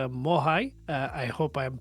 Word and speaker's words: Moai: So Moya is actually the uh Easter Island statue uh a moicon that you have on your uh keyboard.